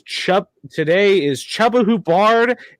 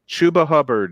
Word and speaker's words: Chuba Hubbard: Right now, your 2 rushing leaders is Chubba Hubbard and DeAndre Swift. Chuba Hubbard is the correct pronunciation.